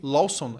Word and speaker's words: Lawson: de 6.000 pontos de venda só na rede Lawson. É assim que pronuncia isso.